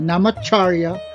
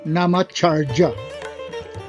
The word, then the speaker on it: Namacharya: Ang bigkas dyan ay Namacharya o Namacharya.